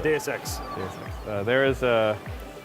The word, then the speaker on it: DSX: And and by the way, thank you for saying it correctly. It's not DX. No, it's not. Yeah, it's DSX.